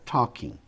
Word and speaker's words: talking: Então, por exemplo, I was talk mais ing fica talking. Esse L, pessoal, ele não é pronunciado.